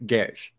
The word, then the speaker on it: Geass: I think the S is it's pronounced like an SH. So it's more like Gesh.